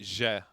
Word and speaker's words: Zie: ZIE like Zangief? No. You pronounce it Je.